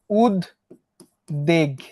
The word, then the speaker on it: উদ্বেগ: ব উচ্চারিত না হয়ে ব যার সঙ্গে যুক্ত ছিল তাকে দুইবার উচ্চারণ করছে।